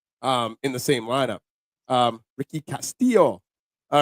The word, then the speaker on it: Castillo: Castillo. It's weird, yeah. It's a weird pronunciation. Okay. Oh, I thought you were just being No, that's really how you say it.